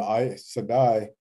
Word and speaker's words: Aes Sedai: Although the Aes Sedai, if I pronounce that correctly.